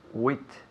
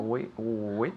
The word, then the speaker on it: width: Width. No? Width. Okay, termina en TH. TH.